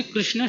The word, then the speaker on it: कृष्ण: बस कीर्तन के समय कृष्ण की जगह कृष्णा निकलता है, तो क्या यह उचित है और इसका कीर्तन कर सकते हैं? देखो, यदि ये करना है तो शुद्ध उच्चारण से करना चाहिए। श्री कृष्ण हो ऐसे बोलना है।